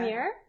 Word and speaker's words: lumière: Lumière, which means Mhm.